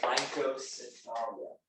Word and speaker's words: Rhynchocephalia: It's pronounced Rhynchocephalia.